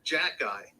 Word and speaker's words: Xhekaj: Because his name, it's spelled Arber, right? Arber is pretty good. And then Xhekaj, Xhekaj.